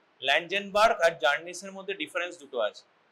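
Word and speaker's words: Czerny: এটা জার্নিস। ঠিক আছে? C silent.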